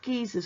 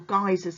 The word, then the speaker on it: geysers: we're thinking of features such as geezers or geysers they can be pronounced either way and the next slide